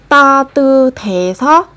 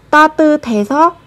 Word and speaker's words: 따뜻해서: Thì các bạn sẽ nối sờ và hờ lên, các bạn đọc thành âm thờ, sẽ là 따뜻해서, 따뜻해서 좋아해요.